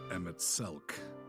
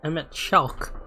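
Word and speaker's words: Emet-Selch: There is also the white robed Elidibus and the elusive Emmett Selk about whom little is known. See, he's saying his name wrong. It's EMTT Shelk, right?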